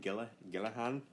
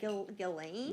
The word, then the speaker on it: Ghislaine: How do you say your name? Gillahan? I think they just say, like, Ghislaine. Ghislaine. But it's spelled like Gilsane.